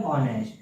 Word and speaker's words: honest: ओ उच्चारण है, तो ओ उच्चारण के लिए यहाँ पर क्या आएगा? आप इसमें देखिए आ से अंगहा तक, तो यहाँ पर भी एन का प्रयोग होगा।